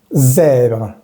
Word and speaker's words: zèbre: Recordemos que esta primera E se pronuncia con la boca un poco abierta. Zè. Y la última E se dice E, pero en final de las palabras no se pronuncia. Zèbre. Zèbre. La pronunciación se detiene hasta la R.